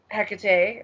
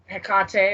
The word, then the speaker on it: Hecate: is a big one that i work with hecate or hecate or hecate or hikari how whatever you want to pronounce it um she does illuminate for me